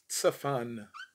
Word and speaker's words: צפן: That root word is tsafan. That root word is tsafan. Tsafan, spelled with a tzadi, fe, and the nun sofit.